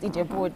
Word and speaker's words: Ijebu-Ode: Ijebu-Ode.